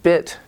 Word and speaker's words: bit: the bit beat distinction the bit beat foul II long vowel E and your tongue is cut it's like the Korean II but your tongue it's longer in English beat and then bit it's shorter but your tongue is more relaxed your tongue is a